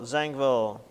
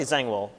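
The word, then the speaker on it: Zangwill: Melting Pot yes Israel zangville probably zangwell I I keep pronouncing the W as a v because I'm used to Germanic pronunciation but it's probably a w um what's that he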